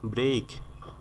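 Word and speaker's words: break: মানে হলো প্রবাহিত হওয়া ব্রেক ব্রেক এর উচ্চারণ ব্রিক হবে না ব্রেক মানে হলো ভাঙ্গা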